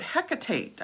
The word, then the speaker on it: Hecate: talk to you about hecate um hecate so there's many different pronunciations of her name but hecate is probably the more popular one because on the second